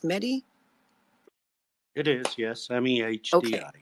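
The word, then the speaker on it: Mehdi: about a gentleman named Mt medy is it pronounced medy it is yes mehd medy and he was then the Secretary General of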